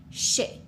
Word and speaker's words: chercher: chercher. Okay? If we had a word like chercher, we have two syllables. We have char and she.